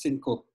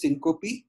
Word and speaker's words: syncope: management so the first thing in unconsciousness is cinco actually it's pronounced as syncope okay so syncope is there are different causes of syncope the